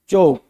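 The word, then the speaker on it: chalk: भी बनाना हो तो एल साइलेंट रहेगा चौक में ये बोलेगा चौक चौ तो देखो सीच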